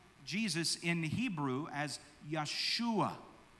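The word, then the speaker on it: ישוע: So we pronounce the name Jesus in Hebrew as Yeshua. Yeshua.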